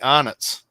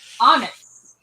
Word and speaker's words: Arnott's: Let me explain how to pronounce it correctly. Arnott's. Arnott's.